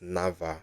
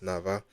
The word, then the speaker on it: NAWA: is actually pronounced as Nava you can see like Nava yeah because the Polish um W is actually sounded like V but anyway we are